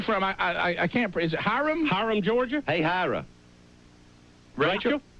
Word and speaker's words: Hiram: Is it Hiram? Hiram, Georgia? Hey, Hira. Rachel? Hiram, Georgia.